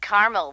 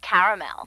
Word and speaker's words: caramel: that's what I said Tina actually you said caramel when it's pronounced caramel can't we just call